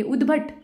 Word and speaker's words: उद्भट: आगे चल 33 अप्रत्याशित निर्जला गगनचुंबी उद्भट। ये जो शब्द लिखा है इसको उच्चारण कैसे करेंगे? उद्भट आधा द है और पूरा भ है।